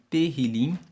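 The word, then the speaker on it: Tehillim: de Salmos no no texto original se chama terril se escreve t e h i l i m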